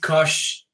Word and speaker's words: Koch: Greg Koch, yeah, because he's from Germany, the name is from Germany, we should pronounce it Greg Koch.